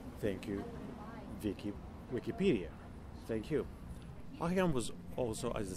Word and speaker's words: Hocquenghem: So I'm just going to jump right into the topic of Guy Hockingham. Just pronouncing it the way I learned to pronounce it, and I'm proud of it.